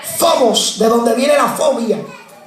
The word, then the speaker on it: phobos: La palabra temor es una palabra griega que se pronuncia phobos, de donde viene la fobia.